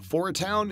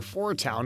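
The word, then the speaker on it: 4*Town: star at the beginning that star never being pronounced meaning they're probably just going to be known as four town in the movie from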